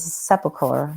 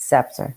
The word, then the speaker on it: scepter: Almost like his royal's sepulcher. Sepulcher? Scepter? How do you say that? Scepter.